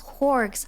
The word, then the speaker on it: Whorgs: The text has calls us Whorgs. So I was right, I think. So say it like orcs, but add a WH.